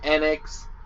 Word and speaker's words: Enix: want to pronounce it i think enix is right though i was always just more fond of uh yeah like phoenix yeah we'll just go ahead